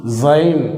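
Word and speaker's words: זין: ஒரு கோடு போட்டு நேரா இப்படி இழுத்துறோம் இந்த எழுத்துதான் சைன் அப்படின்னு உச்சரிக்கிறோம் இன்னொரு முறை கூற எழுதுறேன் பாருங்க ஸ்ட்ரைட்டா ஒரு சின்ன ஒரு கோடு லைட்டா இப்படி பென் பண்ணி வச்சிட்டோம்.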